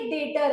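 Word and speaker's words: debtor: तुम बोलोगे कि ये डेटर है मेरा। क्या है? डेटर। डेटर वर्ड बना है डेट से, डी इज साइलेंट।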